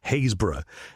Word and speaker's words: Happisburgh: So, that that should have been and the the pronunciation, I've just checked it, is Happisburgh.